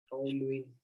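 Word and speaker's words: toluene: टी ओ, टॉलुइन, टॉलुइन, टी ओ एल U, spelling तो यहाँ पर गलत लिखी हुई है।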